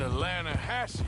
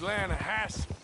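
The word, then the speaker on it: Lannahechee: drought we made an Atlanta hasse River no no no no no no the Atlanta Edge it runs right near here yeah but it's pronounced Lana Hass why is everything in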